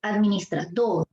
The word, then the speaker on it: administrador: En la sílaba dor, administrador.